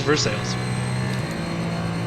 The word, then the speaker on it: Versailles: Like there's like a Versailles. Versailles? Yep. No, Versailles. Nope, it's Versailles. Yeah, vertical sales.